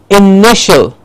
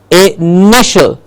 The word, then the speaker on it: initial: Then we have initial. Initial. It's not initial, the long E sound, it's initial.